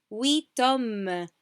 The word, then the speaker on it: huit hommes: And here, remember, when we said huit panthères, we didn't pronounce the T. Now we pronounce it. Huit hommes, huit hommes.